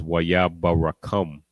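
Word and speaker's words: ויברכם: The way I pronounced it is Waya barakam. That's how I pronounced it.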